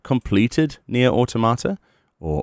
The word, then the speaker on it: Automata: I've not completed Nier Automata, or Automata, as people like to pronounce it sometimes.